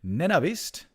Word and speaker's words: Navist: Next match, we're going to see another undead in Navist. I'm told this is the way you pronounce it.